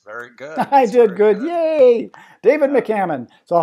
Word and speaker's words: McCammon: David I got to see if I can pronounce his last name sizzle difference it's Mick Mick Hammond is that right that's very good good good yay David McCammon so how are you today David I'm doing